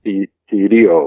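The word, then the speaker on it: θηρίο: Thirio. Yeah, you pronounce the R with the European sound.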